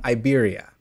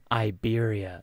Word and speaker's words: Iberia: it is pronounced um Iberia Iberia it's like the Siberia but without the S yeah correct correct yes